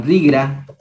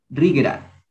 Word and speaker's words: Rigra: El Chaki se pronuncia igual, Chaki, el Rigra, este se le hace como una G, como Rigra, Rigra, Rigra, el Siki, Siki mismo,